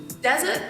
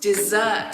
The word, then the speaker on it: dessert: syllables in the work in the other example desert is my favorite thing it's kind of strange I think what you want to say is dessert is my favorite thing